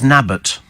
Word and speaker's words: Newton Abbot: Newton Abbot is pronounced locally as Nabbot.